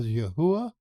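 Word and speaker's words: Yahweh: We pronounce that as Yahwh and it comes from the concordance H 3068.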